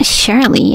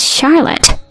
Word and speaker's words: Charlotte: I'm your dad right it's not shley it's Charlotte I don't have a